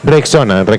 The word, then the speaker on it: Rexona: ¿No se dice así? Redoxon. No. Que Dios me confunda, pero creo que es es vitamina C o algo así para el resfriado, ¿no? No. Rexona.